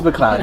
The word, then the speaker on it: MacLeod: How do you I've always said pronounce that? McLeod. Just kidding. Oh. It's McLeod.